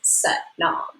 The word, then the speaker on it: Sat nam: is s-a-t-n-a-m pronounced so sat rhymes with but and nom grinds with mom so just like but mom it's set nom so i'll also be